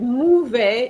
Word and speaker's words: mauvais: You said mauvais instead of mauvais. Mauvais. All right. So the AU, remember, each time you see AU is going to be the sound O, not U.